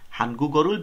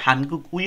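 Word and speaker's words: 한국: মিয়ানসো মানে হলো সাথে কোরিয়ান ভাষা শেখার সাথে হানগুল ভেউ মিয়ানসো কোরিয়ান ভাষা শেখার সাথে হানগু চিকচাং মুনহা এটার উচ্চারণ কিন্তু হানগুই হয় না উচ্চারণটা হবে হানগু কোরিয়ার চিকচাং মুনহুয়া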